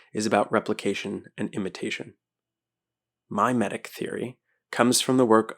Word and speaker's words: mimetic: Mimetic theory is M-I-M-E, like mime.